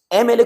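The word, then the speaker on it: MLA: एमएलए, एमएलए को देखो जब आप लिखोगे तो ये आपको ए का साउंड देगा।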